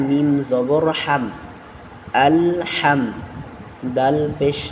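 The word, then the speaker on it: الحمد: যেমন আলিফ লাম জবর আল হামদু আলহামদু আলহামদু লিল্লাহি আলহামদু আলহামদু লিল্লাহি লিল্লাহ এই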